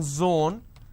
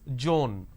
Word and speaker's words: zone: as well for example it's Zone instead of saying Zone they pronounce this as Joan these are the mispronunciation